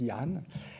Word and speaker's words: Danh: On l'écrit bien avec un D, mais ça se prononce Jan.